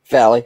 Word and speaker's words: Valley: Val or Valley. How do you pronounce it? Valley, but you can just call me.